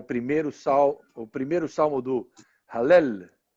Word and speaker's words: Hallel: Salmo 113, que é o primeiro salmo do Hallel. É assim que se fala, né? Você estava me ensinando aí a pronúncia correta. Eu falava Halel, e ele me ensinou.